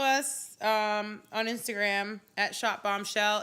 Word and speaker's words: Bombchel: You can follow us on Instagram at Shop Bombshell. It's spelled CHEL, not SHELL. CHEL. SHOPBOMBCHEL. Shop Bombshell.